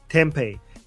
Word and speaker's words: Tempe: How do you pronounce the city name? I think it's Tempe. Tempe.